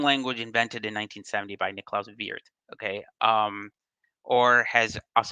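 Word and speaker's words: Niklaus Wirth: was a programming language invented in 1970 by Nicola Vier okay um or has us Americans um tend to pronounce it uh Nicolas worth uh posing the joke that uh Europeans call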